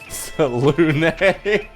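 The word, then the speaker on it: Selûne: That's how I pronounce it, right? Is that? That's good enough. You're inspired. Salune. Yep. That's how it is. That's her name, right? Marvelous. I think Selune just rolled over in her gridline grave, but you know what?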